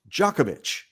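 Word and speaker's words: Djokovic: You know, so Novak in in Eastern Europe, that's Jookovich. Yep. But in America, it became Jookovic.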